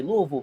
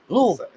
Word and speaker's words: Louisville: He won't even say Louisville because he'll say Louisville, and I tell him that ain't how you say it.